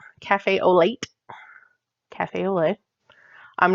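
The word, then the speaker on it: café au lait: We have Cafe au lait, which I always used to say cafe all out, late, cafe au lait, cafe au lait.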